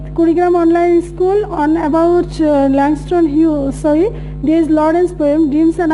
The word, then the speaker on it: Langston Hughes: Okay, Langston Hughes, the pronunciation would be Langston Hughes, not Hughes.